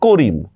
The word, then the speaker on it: করিম: তো করিম শব্দটা যখন আমি লিখতেছি দেখেন করর মধ্যে একটা অর উচ্চারণ আছে। র মধ্যে ইর উচ্চারণ আছে। এই শব্দের মধ্যে। মর মধ্যে কিন্তু কোন উচ্চারণ নাই। এক্ষেত্রে উচ্চারণ লেখার সময় করিম শব্দের মধ্যে আমি মর নিচে একটা হসন্ত দিব।